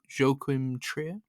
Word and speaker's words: Joachim Trier: Oslo trilogy from, I don't know how to pronounce his name, so I'm probably butchering it here, but Joachim Trier.